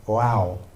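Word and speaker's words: ו: Okay, there's this character called you pronounce it wow.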